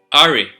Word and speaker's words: AHRE: O también loop recorders como pueden detectar otras cosas, que esto se llama AHRE, que se pronuncia en inglés como ARE. Así es como lo he escuchado mencionarse, como ARE.